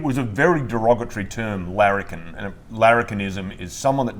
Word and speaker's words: Larrikin: And could you tell folks what the word Larrikin means and how that became the name of your distillery?